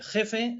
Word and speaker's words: GEF: jefe en ganadería eh Jefe se dice igual con j que con g jefe la cuestión está en